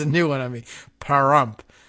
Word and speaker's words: Pahrump: I don't know how you pronounce this paramp p-a-h-r-u-m-pah rump parumpa pum pum I don't know this is a new one I mean Pahrump like haramf but not Nye is the largest